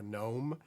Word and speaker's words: GNOME: this environment is called gnome or gnome uh it's pronounced either way in the linux world there's a lot of debate over it i just like to